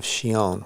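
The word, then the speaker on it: Chillon: think we did a release of shion which is spelled c-h-i-l-l-o-n and it was a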